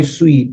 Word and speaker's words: suite: way you spell it write it s UI T that's sweet and that's like your your that's my Suite that's my apartment that's my you know that's where I live so you know pen Suite that's also sweet but this is s we T that's s UI T so it's very different with the same pronunciation and of course we